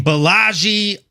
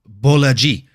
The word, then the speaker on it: Bolaji: We had a lightweight bout between Balaji Oki. That's how I used to say it until watching John Anik pronounce it and then listening to the Fighter File. And he says it Bolaji.